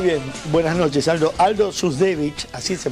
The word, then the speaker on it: Duzdevich: Aldo Dusdevich, ¿así se pronuncia? Dusdevich.